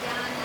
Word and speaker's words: Jnana: In South we pronounce Jnana, Jnana, Jnana.